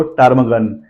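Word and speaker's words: ptarmigan: that time P silent आप देख सकते हो टर्म गन यहां पर पी के पीछे टी दिया गया है टी से पहले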